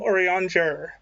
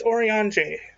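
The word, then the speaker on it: Urianger: his name because it i used to call him orion jarror it's orionj the r is silent it drives me in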